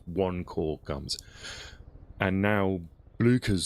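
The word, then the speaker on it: Blücher: Blucher rhymes with languisher. Blucher.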